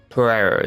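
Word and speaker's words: Pierro: Pereira.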